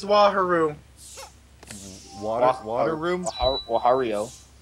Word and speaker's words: Wario: Wahario. Wahario. That. Wahario. Okay, apparently I was pronouncing it wrong.